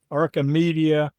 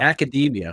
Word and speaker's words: academia: trilogy blending or arca arcamedia and magic. And I think I pronounced that right. But no, you you didn't. You're way off. I didn't. I blew it. I blew it. But uh academia. Academia. Yes. That's okay.